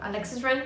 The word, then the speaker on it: Alexis Ren: You know, Alexis Ren? Yeah. That's how you pronounce it?